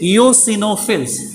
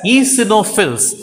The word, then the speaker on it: eosinophils: number of wbc eosinophils actually spelling if you take eoc no fills but we have to pronounce it as easy no fills ethanol fields will be 40 to 500 okay 40 to 500.